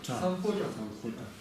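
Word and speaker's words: སམྦྷོ་ཊ: Значит, читается все, что написано. Читаем. Самбхо. Это что это? Та. Точно так? Та. Самбходжа.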